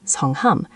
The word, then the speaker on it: 성함: For formal situations, we use a completely different word for name, 성함, pronounced 성함.